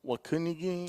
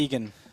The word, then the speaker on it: Waukegan: Hello from Wakunigi. Oh God, See that, Craig? See what Good Nando job. said? I don't know how to pronounce it, but I it's want to. Waukegan.